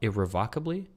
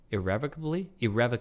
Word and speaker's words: irrevocably: we four years ago Google pronounced irrevocably irrevocably it's irrevocably sorry irrevocably yeah really shitty